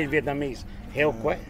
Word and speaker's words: heo quay: Heo quay. Heo quay.